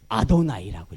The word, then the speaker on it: 아도나이: 그죠 여호와께서 여호와께서 여호와께서 근데 이스라엘 백성들이요 여호와로 쏴 놨지만 여호와로 입질 않아요 여러분 야훼라고 정확한 발음이라고 하죠 하나님 이름 그런데 야외 읽지 않고 뭐를 했냐면 아도나이라고 읽어요 우리 성경이 여호와 여호와 그랬지만 읽을 때 그들은 주께서 주께서 아두나이는 주라고 하는 뜻이에요 주님이라고 하는 겁니다 하나님과